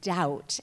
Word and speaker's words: Daut: father is not Haitian my last name is actually pronounced doubt and the the person